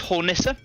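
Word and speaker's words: Hornisse: got a couple of I think it's pronounced hornissa which is German for Hornet this is a version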